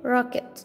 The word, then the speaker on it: rocket: rocket rocket look here when we have C plus K and post makes sound key literacy makes a sound key a little K makes a sidekick we pronounce just one kick kick kick we say